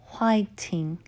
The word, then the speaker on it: 화이팅: It's an English word for fighting, pronounced as 화이팅. 화이팅.